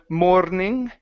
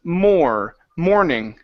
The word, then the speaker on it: morning: Right here, so instead of morning, okay, control the R, control your tongue. So it's morning.